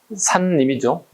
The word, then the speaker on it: 산림: 산님이죠. 정확한 발음은 산님.